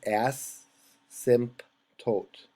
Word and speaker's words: asymptote: that would be big it's pronounced ass simp tote i typed ass oh